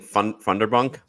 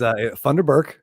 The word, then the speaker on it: Funderburk: Oh, right, and of course, is this replacing Funderbunk? Funderburk. Funderburk. Remember, it is Funderburk.